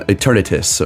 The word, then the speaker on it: Eternatus: Will be a special encounter screen for Eternus. So you're gonna Eternatus.